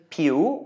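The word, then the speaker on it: ผิว: a rising tone and so does piu because it's also a high class consonant pure means skin and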